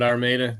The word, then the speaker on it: Armada: You got it, Armada.